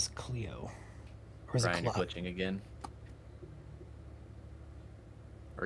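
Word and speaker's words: Clio: So I don't know if Ryan mispronounced that, but Cleo. Yeah. Cleo. It's It's Cleo.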